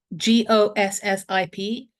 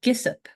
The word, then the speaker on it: gossip: I think one of the words I had a problem with was GOSSIP, gossip, but I pronounced it Gissip, because I thought, well, the words don't sound don't follow the vowels. I said this must be Gissip, and my mother was